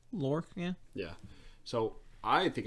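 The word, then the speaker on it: Lhorke: we have um lorc l-h-o-r-k-e would you say that's work how would you pronounce that lork yeah yeah so i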